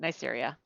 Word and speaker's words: Neisseria: Nasseria? Okay, I'll take that. Neisseria.